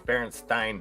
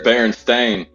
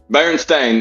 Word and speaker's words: Berenstain: missed out spell it there's Berenstein Bears no that says Berenstain bearing stain hey that's a that's